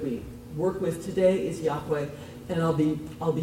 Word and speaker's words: Yahweh: their God and that we don't know for sure how it was pronounced but the standard pronunciation that we work with today is Yahweh and I'll be I'll